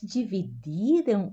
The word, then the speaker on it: dividir: Observa que a pronúncia do duas vezes, o de I, eu pronuncio dividir duas vezes com di.